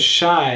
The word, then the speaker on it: Shai: And if you are new to this channel, if you're new to what I do, so my name is Shai and it rhymes with Thai.